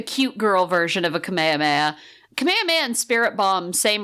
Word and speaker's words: Kamehameha: Goku's children go 10 didn't learn how to pronounce it properly and so he doesn't use the Kamehameha wave he uses the kamehame wave so his attack is